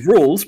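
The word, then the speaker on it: Rouxls: Rules card also does this in his chapter 2 boss fight. Pronounce rules. Pronounce rules. The rules pronounced rules aren't simple.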